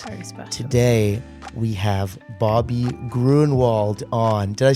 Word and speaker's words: Gruenewald: Today, we have Bobby Gruenewald on.